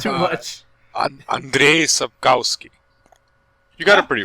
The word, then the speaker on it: Andrzej Sapkowski: Andrzej Sapkowski.